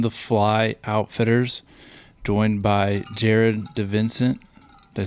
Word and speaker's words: Jared DiVincent: Today I am in Brunswick, Georgia at On the Fly Outfitters, joined by Jared DiVincent.